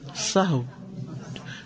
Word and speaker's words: سہو: سہو ہوتا ہے, سہو نہیں ہوتا. سب لوگ اپنا تلفظ بھی درست کر لیں. سہو جیسے لغو, ٹھیک ہے, کرب, نفس, سہو.